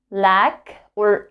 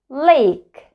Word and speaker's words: lake: Not like short version, A, but A. Not lack but lake, lake.